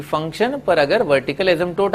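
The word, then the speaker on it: asymptote: एसिम्प P silent है, एसिम्पटोट है ना।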